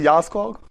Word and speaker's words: Jarlskog: She's from Sweden, so we start with J, but you pronounce it with Ya, as far as I know.